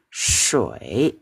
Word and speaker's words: 水: Nah, shi u a shui, air.